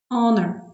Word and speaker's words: honor: Не вимовляється звук Х На початку слова винятки. Our. Honest. Honor.